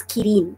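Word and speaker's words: キリン: So in Korean it's called girin, diba? In Japanese it's kirin.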